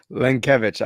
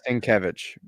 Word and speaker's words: Lenkiewicz: and I'm sorry linkevich I I always say it's like kevich oh there you go